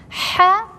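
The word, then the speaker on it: ح: pronounce how full jim so say ha comes from the throat and you have to practice it a lot if you have a problem with her because from the throat we have six letters one of them in the middle of the throat is ha ha if you don't know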